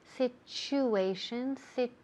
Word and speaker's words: situation: en una palabra, TU, situation. Fijaos bien cómo se pronuncia esa TU. It sounds like, ¿qué? CH, right? Sounds like a ch, situation.